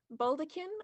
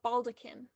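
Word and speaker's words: baldachin: Your word has two pronunciations, baldaquin or baldaquin. Baldaquin.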